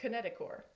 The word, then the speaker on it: kinetochore: proteins together the kinetochore it's spelled kinetochore but pronounced kinetochore this gives us a little indicator of what's